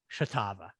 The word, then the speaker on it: Shartava: show the delightful and talented and funny leah chitava leah how are you very good very good thank you for pronouncing my last name correctly wow pretty good